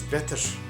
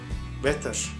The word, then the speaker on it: better: We want to say the double T like this: better, better.